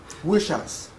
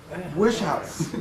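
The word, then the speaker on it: Wieschaus: Nobel Prize winner and he told me how to pronounce his name and I'm going to blow it um weel is that correct no he will correct me when I uh um wish house wish house Eric wish house uh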